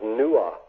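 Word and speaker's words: Nuada: This is all from from Irish mythology, in which the sword of King Nada was called Retaliator. And Nada, one of the other pronunciations of his name was Nua, just like Noah.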